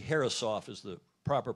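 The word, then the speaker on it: Herreshoff: awarded the harrish off trophy then nathaniel g harrisoff is the proper pronunciation at the u.s sailing bill dana you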